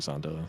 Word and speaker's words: Zonda: Well, I'm also on record for intentionally saying Zond, but it's actually Zonda and stuff like that.